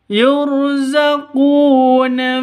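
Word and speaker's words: يُرْزَقُونَ: Yurzaquuna fiha bighhairi hisab. Yurzaquuna. rnya ro tafkhim yurzaquuna qu panjang dua ketukan karena ada wau mati diawali dengan dommah atau wau mati sebelumnya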